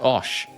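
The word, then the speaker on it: Auch: It's pronounced osh.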